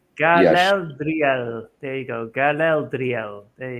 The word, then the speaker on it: Galadriel: Yeah, but still, it didn't So- feel like a Garel. Galadriel. Galadriel. There you go. Galadriel. There you go. I cannot pronounce this properly, but Galadriel.